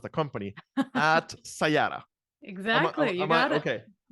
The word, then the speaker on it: Sayata: Upasana Unni, Chief Commercial Officer at, and of course, I didn't ask how to pronounce the company, at Sayata.